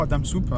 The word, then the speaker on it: Hwadamsup: donc on gagne adams ou adam soupe dans la bonne prononciation j'ai trouvé toutes les